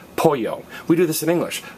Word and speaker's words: pollo: poultry poo and again the Double L is pronounced as a y which is why when